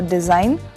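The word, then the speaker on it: design: साइन, चिन्ह, और डिजाइन, खाका, इसमें जी साइलेंट है।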